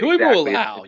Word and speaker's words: Tuimoloau: And we drafted a defensive end from you guys, JT Tuimoloau. I'm sorry, I don't know how to pronounce it. Tuimoloau, you got it.